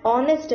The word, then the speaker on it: honest: An honest man. H is silent.